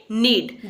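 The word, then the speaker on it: knead: में बोलते हैं नीड केन आई ए दी के यहां पर साइलेंट है इसलिए इसे हम बोलेंगे नीड जैसे अगर आपको बोलना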